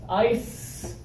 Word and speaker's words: ice: for this one here no vibration do you feel the difference yes ice there is ice in my